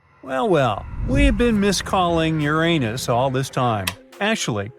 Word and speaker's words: Uranus: well we've been miscalling Uranus all this time actually astronomers say we should be pronouncing it like Uranus not Uranus I can't say a different stress changes much though however things could have